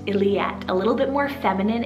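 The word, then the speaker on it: Illiette: i have the name iliate spell i l l i e t t e very similar to elliott illyat a little bit more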